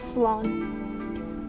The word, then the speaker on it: Slán: One dialect will pronounce it as Slán.